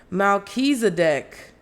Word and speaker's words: Melchizedek: Oh, okay, they got a pronunciation. Thank God. Melchizedek.